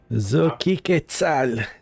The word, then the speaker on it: Xochiquetzal: I will raise my hand and I will call the name of my goddess, Xochiquetzal. Or am I saying this wrong? Xochiquetzal? Was the first time right? It was so cheap. Xochiquetzal.